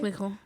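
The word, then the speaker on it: Clicquot: I mean, it's supposed to be French, so I'm sure it sounds a little different, but it's Clico in there somewhere. Right. It probably sounds French as fuck. Yeah. Clico. What? What you say? Clico. That's how you say it in French.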